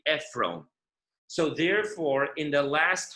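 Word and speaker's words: עפרון: And that's why even though Ephron is spelled Ayin Pei Resh Vav Nun, but if you put the O vowel on the Resh, so you don't really need a Vav, and it'll still read Ephron.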